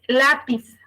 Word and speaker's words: lápiz: de atrás hacia adelante un ejemplo es lápiz yo divido lápiz en sílabas y dice la pis Entonces cuál es su sílaba tónica de lápiz lápiz es la por y me dice